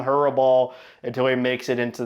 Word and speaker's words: Hrabal: Next, we go to Hurabball, or as you know, the announcers pronounce it, Rabble, which I don't like. So, I'll keep calling him Hurabal until he makes it into the NHL.